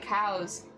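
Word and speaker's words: Cowes: Pronounced like cows.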